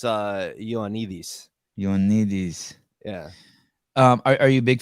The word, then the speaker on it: Ioannidis: So I mean, I don't know how he pronounces it, but the Greek in me makes it look like it's Ioannidis. Ioannidis.